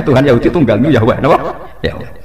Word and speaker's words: Yahweh: Yahweh. Nak teng ejaan Latin Y besar A H besar W E H besar Yahweh. Lah Yahweh nak sampean maca ya Allah mbok imalahno iku ya wis napa? Yahweh sama.